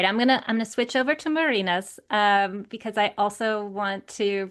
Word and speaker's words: Marines: So here is Marina's bio. And I should say for our listeners, it is spelled like Marines, like the Marines, but it is pronounced Marinas.